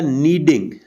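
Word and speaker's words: kneading: आटा गूंद होता है नीडिंग लीड के साइलेंट होता जिस तरह नो में के एन ए डी और इन लगाने से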